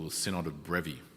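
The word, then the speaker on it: Brefi: Okay, a church a senote technically in this case what we call the sinnod of brevy right b ref i the the f pronounced like a v brevy this was a one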